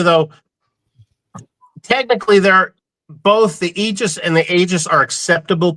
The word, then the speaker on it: Aegis: are acceptable pronunciations, but we go with eegis just as long as, and I'm not going to call the guy out. He's from a state down south that they think they're the best of everybody and everything. We are the best of everything and everything. He talked about our product a couple years ago on a podcast and he kept calling us AIGUS.